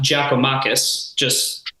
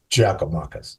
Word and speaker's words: Giakoumakis: And Gigi, his name is pronounced Giakoumakis. Giakoumakis.